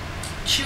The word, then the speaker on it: Chiu: Chu is spelled Chiu.